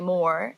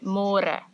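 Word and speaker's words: môre: more CU in English it's spelled like more so don't say more say more and the older generations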